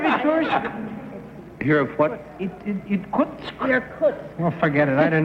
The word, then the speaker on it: Irkutsk: Number 1, do you know where Itursk is?